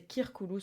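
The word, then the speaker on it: circulus: qui est le mot circolos alors qu'on devrait prononcer kirkoulou en réalité mais bon bref le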